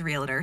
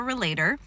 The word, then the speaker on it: relator: So today I'm going to be talking about the strength of relator, which is fun to mispronounce as realtor. Some people do that. So the definition of a relator: people who are especially talented in the relator theme enjoy close relationships with others.